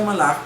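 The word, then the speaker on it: מלאך: La palabra ángel en el hebreo se pronuncia malach y quiere decir enviado o emisario.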